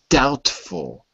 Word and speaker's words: doubtful: so the word was doubtful d fall d fall good good so remember there's no B it looks like BT but the B is silent just that doubtful so